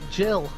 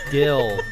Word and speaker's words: Gil: Yeah, we finally, and hopefully we get that Jill. You get what? Wait, did I say the name wrong? Get back Jill? Who? What the fuck? How do you, what was the money called again? Gil.